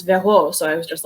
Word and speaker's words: Vero: But then I spent a lot of time abroad, and in Spanish, it would be pronounced Vero, and in French, it's Vero.